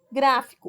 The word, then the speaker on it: gráfico: Gráfico, o gra é a sílaba tônica, o fi e o có são as sílabas átonas, tá?